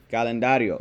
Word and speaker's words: calendario: rid of them calandario calendario it's a four syllable word and the natural accent is on the second to last syllable one of the things